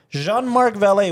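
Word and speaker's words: Jean-Marc Vallée: Val Val Val Val I think it's Val because it's got an accent Jean Mark valet which uh we lost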